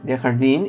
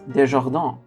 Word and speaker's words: Desjardins: Anyway, Dehardine is a French name and should be pronounced Desjardins, meaning out of gardens.